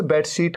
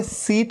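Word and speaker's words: sheet: में आप चादर बिछाते हैं बेड पे उसे बेडशीट कहते हैं बेड शीट इसे सीट नहीं कहना सीट सीट नहीं सीट तो वो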